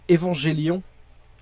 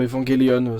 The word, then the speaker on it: Evangelion: oui, non, je disais Évangélion, Évangélion. ouais, ou Evangelion, ça dépend comment tu le prononces.